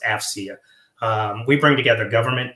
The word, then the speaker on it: AFCEA: we go by our acronym afcea and it's pronounced afia um we bring together government industry and Academia